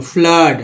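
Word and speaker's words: flood: इसके बाद एफ L double D फ्लड में, ठीक है, फ्लड डबल ओ है और उच्चारण क्या हुआ है अ के रूप में, फ्लड है ना, फ्लड बोलते हैं।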